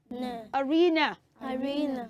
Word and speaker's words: arena: Arena oh I'm sorry arena is not the right way of pronouncing that word if you want to say that word correctly you will say uh children can you say each syllable after me say a Arena Arena yes so it is not AR not Gino it's not Arena children say with me say Arena Arena come on you can